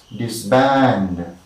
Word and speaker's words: disband: Okay, so words of two syllables beginning with the prefix dis, take the primary stress on the second syllable.